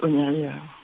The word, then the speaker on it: Oneiroi: Mais en effet, on prononce Oniri quand on prononce à la grecque.